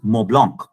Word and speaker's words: Mont Blanc: is MOINT, Mont Blanc is what people say. It's Mont Blanc. Right? Now, this is not because I know French, which is why I know the accent, which is why I know how to pronounce that name.